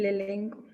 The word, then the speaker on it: l'elenco: Y l'elenco. ¿Por qué il? Elenco. L'elenco. L'elenco, exactamente, ¿no? Palabra que inicia con vocal. Imposible que tenga il, si no, no se podría pronunciar bien.